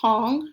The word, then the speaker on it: Tang: That new dynasty is called the Tang Dynasty, and again, it's pronounced Tong, not Tang. So the Tang Dynasty also continued to